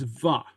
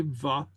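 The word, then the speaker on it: bha: make a statement, it's va. Okay, very similar to ha. So go ahead and say va, Va. Ah. va. Okay. Ah. Yeah, and it's pronounced with a V.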